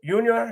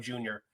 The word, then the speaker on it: Yunior: You know, they don't want to mess around with anybody calling him Junior by mistake. So they skip the J, go right to the Y, and that's where I work out as well, the Y.